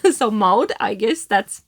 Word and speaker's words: Maud: She told me like loud, but with M. So Maud, I guess that's how you say that.